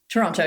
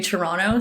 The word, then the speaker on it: Toronto: say it wrong Toronto Toronto yeah Toronto okay do I say the two T's you know it said that if you're from Toronto you don't say the second T you just say Toronto so you're saying it